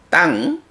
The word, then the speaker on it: taṃ: 땅 여기서도 이제 따 다음에 요 M의 밑에 점 붙으면 응이라는 소리거든요. 응 해서 땅 하는데 역시 땅 짧게 발음하지 말고 따에다가 응이 바로 받침으로 들어가 있기 때문에 받침만큼의 응가 길이가 있어요. 그래서 땅 약간 길게 한 음절 반 정도의 길이로 땅 읽어주고요.